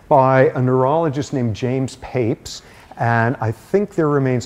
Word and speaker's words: Papez: a neurologist named James Papez. And I think there remains enormous controversy over whether his name is pronounced "papes" or "pap-ez." But probably neither is correct.